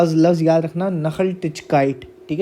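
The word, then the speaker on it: Nachhaltigkeit: नखल टिचकाइट। ठीक है? ये एन ए सी एच एच लिखा है। इसकी जो प्रोनाउंसिएशन है वो नखल टिचकाइट है।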